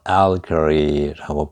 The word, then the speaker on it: allegory: 알레고리, 영어로 allegory라고 발음해요. 이렇게 allegory 이렇게.